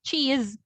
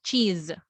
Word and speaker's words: cheese: we pronounce the word cheese or this word your s is pronounced with your z the sound that's why we use your letter z so cheese for cheese check this